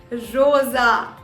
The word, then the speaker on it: Rosa: So the next word is pronounced as what? Rosa.